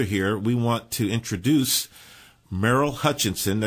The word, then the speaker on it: Merrill: introduce Merill Hutchinson now your name is spelled m e r r i l l but when you first told me your name you it sounded more like m e r l e well depends on what